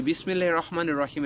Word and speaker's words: বিসমিল্লাহির রহমানির রহিম: তেমনি শুদ্ধ উচ্চারণ হচ্ছে বিসমিল্লাহির রহমানির রহিমের শুদ্ধ উচ্চারণ হচ্ছে বিসমিল্লাহির রহমানির রহিম। বিসমিল্লাহির রহমানির রাহিম হবে না, এটা হচ্ছে অশুদ্ধ উচ্চারণ। রয়ে আকার হবে না, র পুর হবে।